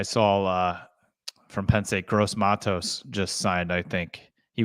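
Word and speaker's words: Gross-Matos: uh what do you call him he goes gross Matos gross Matos awesome youor gross Matos that's sounds like a pronunciation that I would have as we go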